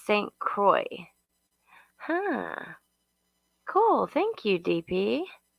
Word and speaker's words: St. Croix: It's pronounced St. Croix.